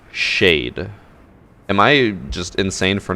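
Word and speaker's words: Caed: They said their name is pronounced Shade.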